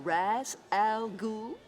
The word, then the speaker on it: Ra's al Ghul: Am I pronouncing this right? Mr. Raz Al Ghul?